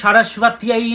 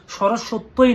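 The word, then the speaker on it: সরস্বত্যৈ: মা সরস্বতীকে ডাকুন, ওম আইম সারস্বত্যাই নমঃ, ওম আইম সারস্বত্যাই নমঃ। সরস্বত্যই নয়, সারস্বত্যাই। সংস্কৃত উচ্চারণটা ঠিকঠাকভাবে জানতে হবে।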